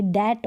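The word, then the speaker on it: debt: लेने देखें यहां पर डेट है क्या है डेट और डाउट टी का तो उच्चारण हो रहा है लेकिन टी से पहले जो बी है इसका उच्चारण नहीं होगा इसको दबत नहीं पढ़ेंगे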